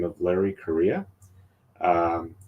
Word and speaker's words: Correia: the name of Larry Korea um it's pronounced like the country of Korea uh and it's spelled